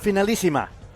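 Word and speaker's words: Finalissima: Finalima.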